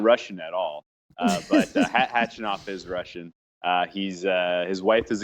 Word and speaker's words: Khachanov: We have got Thiem versus Khachanov, I think is how you say it. I've always heard the K is silent in his last name, and then it's Khachanov.